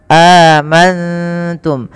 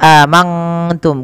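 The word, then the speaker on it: آمَنتُم: diistilahkan untuk mim sukun nun sukun bertemu dengan ta ikhfa cara membacanya nunnya samarkan kepada huruf ta amantum bukan hanya amanttum kalau mangtum maka dia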